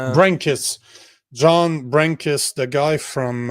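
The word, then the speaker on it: Brenkus: You know, man, I was just editing uh I'm just finishing up an edit for um John uh how do you say his last name? Drankus. No, Brankis.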